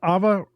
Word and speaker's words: Eva: Eva not Eva it's Ava Rubenstein or yeah it her name is spelled Eva but I think it's pronounced Ava Ava sorry Ava Rubenstein